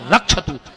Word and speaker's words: रक्षत: वो एक मंत्र पढ़ भार भक्षत भैरवा जबकि शुद्ध उच्चारण है भार रक्ष अब तुम जजमान के घर दुर्गा पाठ कर रहे तुमने कह पढ़ो लिखो है नहीं तुम कह रहे भार भक्षत भैरवा हे माता की घर को खा ले अब जो हम नौ रेगुलर तो हमारा जबकि शुद्ध उच्चारण है भार रक्षत हम यजमान की पत्नी की भी रक्षा कर तो तुम रक्षत की जगह भक्षत कह रहे मर अब सुन माता